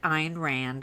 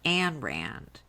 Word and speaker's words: Ayn Rand: And he discovered a series of books written by a woman named Ayn Rand. And I'm just going to interrupt to tell the audience PJ pronounces it Ayn Rand, which is the way that it should be